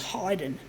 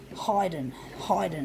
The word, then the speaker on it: Haydn: Haydn, and it's pronounced Haydn. I'm not sure where the origins of it is, whether it's German or whatever. Haydn. It sounds like it's a funny name. It sounds like hiding or hidden or hide, whatever.